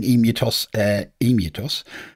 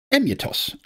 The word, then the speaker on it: EmuTOS: oh and on the subject of me calling emutos I've had it pointed out that and it's undoubtedly true that it should be pronounced emitos as it's also for emulators but I'm afraid